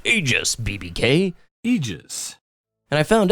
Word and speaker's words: Aegis: now before you jump on me saying it's pronounced AIS BBK Eis and I found out that Eis